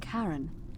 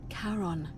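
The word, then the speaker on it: Charon: as you described it only your pronunciation is a little off the name you heard wasn't karen it was c-h-a-r-o-n as in caron the ferryman of the dead karon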